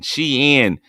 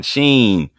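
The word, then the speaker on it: Shein: shine shine and Shining she in shot there you don't even know how to say it y'all just order your clothes from It Shine Sheen yamo be there y'all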